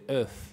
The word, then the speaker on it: œuf: Of. ¿Qué? ¿Of? No. Ojo, no, ¿el huevo? Huevo de corniz. No, sería? Codorniz no sé. Couturné. ¿Cómo? Couturné. Couturné. Huevo se dice Œuf.